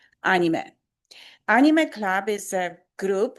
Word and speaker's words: anime: Then in this club, we're going to use Japanese pronunciation, and it's anime.